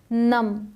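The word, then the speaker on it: numb: आए हमेशा नहीं बट एम के बाद आए तो अक्सर साइलेंट होता है नम इसे नम नहीं पढ़ते इसे सिर्फ और सिर्फ पढ़ेंगे नम ये डम क्रम डेट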